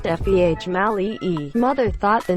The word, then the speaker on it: Female: Female, pronounced Feh Mali-E.